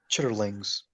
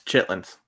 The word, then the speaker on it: chitterlings: chat chitterlings nope it's chitlings why are youy that's